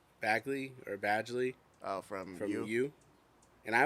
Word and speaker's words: Badgley: I think I say Badgley if I'm gonna let's look up the pronunciation. Badgley.